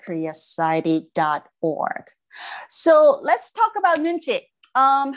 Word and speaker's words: nunchi: korean concept right so nunchi is uh eat two syllables because it's two words nun means i and